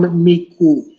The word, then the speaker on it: Micu: you say your name it's Miku Okay Google says it's pronounced Like Caillou Miku okay bear with me